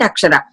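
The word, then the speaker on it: अक्षर: When we pronounce Ra sound, again we can pronounce it and see. We can close our eyes and pronounce it and see. What happens is the tongue touches the back of the teeth.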